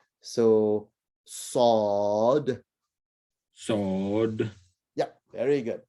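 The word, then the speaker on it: صاد: The name of the letter is sod. And I guess similar to when you say a sword, right? But it's a thicker sound. So sod. Sword. Yeah, very good. Sod.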